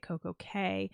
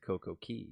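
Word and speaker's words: CocoCay: We had a perfect day if you would cuz their slogan is perfect day at Coco K, which another fun fact, it's technically not pronounced K.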